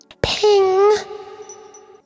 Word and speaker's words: PNG: is possible Network Graphics PNG officially pronounced ping no capital letters so